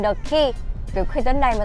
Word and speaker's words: Quay: Có một cái Tâm thấy lạ đó chính là nhà hàng đánh vần là quay, nhưng mà đọc là khi. Nhà hàng The Key.